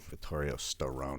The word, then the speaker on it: Vittorio Storaro: say until I still row no that's right Vittorio Storaro no and so he did he's everything but